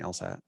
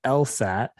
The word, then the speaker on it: LSAT: yeah they pronounce it the makers of the test pronounce it as an initialism they always say l-s-a-t um most people in